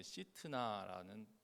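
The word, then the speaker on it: שִׂטְנָה: 이 고발이라는 단어는 원어에 이제 시트나라는 고 이제 발음합니다.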